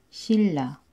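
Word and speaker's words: 신라: So, ganun pa rin yung pronunciation niya. Real, real. Halimbawa nito ay shilla.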